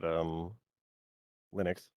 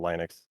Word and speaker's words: Linux: You can get going when you're talking about Linux or Linux. I think Linux is probably correct. I haven't heard anyone pronounce it that way, but it makes more